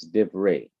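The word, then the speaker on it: דִּבְרֵי: closed syllable then the simple Shiva is not pronounced so it's div Ray words of another noun is kakam wise wise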